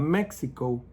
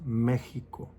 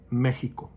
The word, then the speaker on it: Mexico: It's not Mexico, it's Mexico. Even though it has that X, we don't pronounce it, it's Mexico. In the schools in Mexico, they don't give you breakfast.